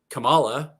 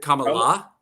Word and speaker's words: Kamala: us can really figure out how to say Kamala or Kamala or Kamala. Kamala. Kamala. Kamala. Kamala. Well, is it Kamala?